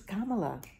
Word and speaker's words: Kamala: least um but uh my name is kamala it rhymes with pamela yeah so i keep